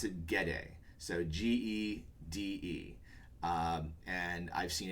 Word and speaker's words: Gede: There is, I pronounce it Gede, so Gede, and I've seen it pronounced as Geed, as Jeed, as I guess you could go Jed, or I don't know.